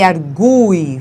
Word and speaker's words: argui: E aí, observe, ele argui faz com que esse U seja pronunciado com o som forte.